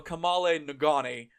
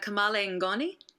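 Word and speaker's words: kamalen ngoni: singer and can construct one hell of a Cale nagani kayn seele welcome to the show thank you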